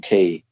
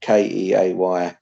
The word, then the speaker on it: Keay: I recommend a huge history of China by John Key. It's called China. John Like Key, that's spelled Keay. That's the best history of China.